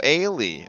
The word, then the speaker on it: Ailey: It's like Haley without the H. It's Ailey. Oh, Ailey. Okay. Yes. So Haley with no H.